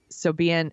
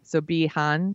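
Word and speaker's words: Siobhan: Then actress, I think her name is pronounced Sobeehan Thompson. Mm-hmm. Sobeehan Thompson.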